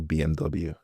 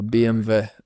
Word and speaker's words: BMW: BMW. BMW. Yeah. Is that an Irish thing? No, it's the German, because they pronounce their W's like V's.